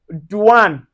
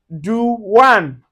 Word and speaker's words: douane: So you can see anywhere you see the o u plus the i or you can see o u plus a vowel. So it gives us the oui.